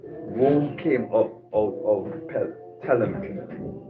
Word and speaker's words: Ptolemy: Ptolemy. Rome How it came- have a P and it says, the P is silent.